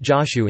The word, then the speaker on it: Jōshū: Five koans in the collection derive from the sayings and doings of Zhaoju Kongshen, transliterated as Chao Cho in Wade Giles and pronounced Joshu in Japanese.